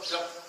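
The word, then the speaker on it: जप: So now you are set to do your jap. People call it japa, but I call it jap. The correct Sanskrit pronunciation is jap.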